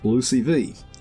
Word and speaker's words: LOOCV: one out cross validation LOC V pronounced blue CV and the predicted R square here's the concept of Lucey V I start this example